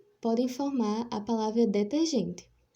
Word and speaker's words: forma: sonora é por exemplo que forma plantado com o fechado forma outro sentido de molde ao passo que se pronunciado com o aberto forma ó até o sentido de formato o sentido significante é